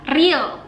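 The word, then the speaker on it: 리을: Terus ada yang ini namanya adalah real. Cara bacanya R atau L, R atau E.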